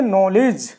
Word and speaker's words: knowledge: देखिए यहां आया जी जी से पहले गया दी तो दी क्या हो गया साइलेंट हो गया तो हम इसको पढ़ेंगे नॉलेज नॉलेज मेंस ज्ञान अब इसमें